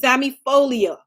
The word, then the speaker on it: zamiifolia: The second one is zamifolia.